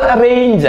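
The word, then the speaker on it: range: അടുത്തത് ആർ എൻ ജി ഇ ആർ എ അപ്പൊ റേഞ്ച് അല്ലേ റേഞ്ച് അല്ലേ ആർ എൻ ജി ഇ അല്ലേ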